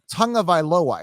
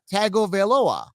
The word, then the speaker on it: Tagovailoa: tag viola yeah well how can you ever get an n sound in there there's no n at all no there's no tongue it's tago tagovailoa tago like t-a-g-o veil